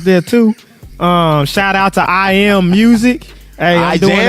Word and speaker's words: I Am: Shout out to I Am Music. Hey, I'm doing it all. Say it right now, I jam. I said jam. The J was silent. I am. Hey, but check me out though.